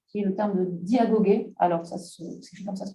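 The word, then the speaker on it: διαγωγή: Alors, Aristote emploie pour parler de vie d'un terme grec qui est le terme de diagogé. Alors, c'est comme ça se prononce, D-I-A-G-O-G-E, accent grave.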